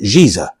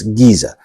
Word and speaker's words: Giza: that comes after it you will pronounce the G sound not the J sound okay let's review one